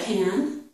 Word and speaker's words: can: could say, yes, I can, yes, I can, and you would emphasize can. You would give the full vowel sound, the a sound, okay?